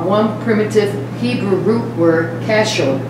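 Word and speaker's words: כשר: The two English words, seem right, are one primitive Hebrew root word, kashur. Spell it for us.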